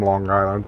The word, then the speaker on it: Long Island: Why is it some people down here that's from Long Island pronounce it long with a little k at the end of it, Long Island?